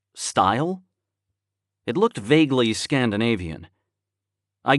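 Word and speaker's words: Stuil: but what was s-t-u-i-l how would you pronounce it like style it looked vaguely scandinavian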